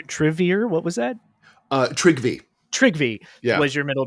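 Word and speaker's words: Trygve: heard very often uh it's spelled TR r y gve trivy yeah W trivy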